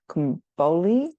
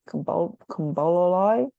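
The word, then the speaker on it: komboloi: then there's also um I think it's pronounced comoli com Koli the Greek beads which really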